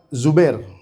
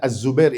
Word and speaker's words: Az-Zubair: Seperti nama Zubair Ibnul Awwam, padahal namanya adalah Az-Zubair Ibnul Awwam, ada alif lamnya.